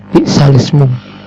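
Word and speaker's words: بئس الاسم: yang berbunyi his alismu cara membacanya yaitu bi'salismu sambil dibaca nakal dengan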